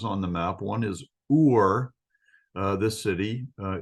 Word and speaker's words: Ur: of important places on the map one is ur uh this city uh it's spelled you are so down here by the